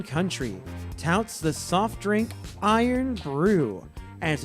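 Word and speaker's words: Irn-Bru: When it's pronounced over there, it's more of an Iron Brew.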